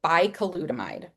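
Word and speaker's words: bicalutamide: Chris Lewis, a pediatric endocrinologist, is giving patients a drug called bicolutamide. It is spelled B I C A L U T A M I D E.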